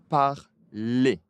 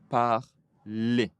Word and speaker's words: parlez: Alors E Z et la prononciation est E. Vous parlez. Vous parlez.